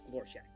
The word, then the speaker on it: Glorshak: It's Glorshak. Okay. Can you spell that? Glorshak. Glorshak. Okay. Are you sure that K is a K and not a Q? It's a K. So it's not Glor Shaquille O'Neal? It is not.